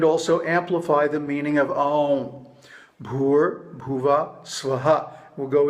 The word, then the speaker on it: Aum: Now the proper pronunciation is Aum. Aum.